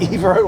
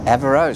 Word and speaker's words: Evero: to pronounce it well is it EO or evero what do you think I think it's evero evero spot on well done evero why